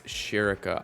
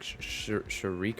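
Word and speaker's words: Schierke: do you pronounce it okay it's sherica I always thought her name was like shariq or Shakir or something like that I don't sherica sharica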